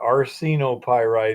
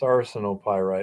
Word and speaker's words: arsenopyrite: Yeah, and it's not arsenopyrite either. It's arsenopyrite. It takes forever to change a pronunciation that you've been using for years.